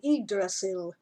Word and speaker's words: Yggdrasil: I think it's actually Yggdrasil, I've now learned, which sounds more Norse to me, but we never pronounce it right here in North America because we're silly.